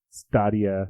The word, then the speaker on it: Stadia: Stadia. You're Have right, you heard Stadia. it pronounced? Yes, you are correct. I was just thinking it kind of sounds like Stadium.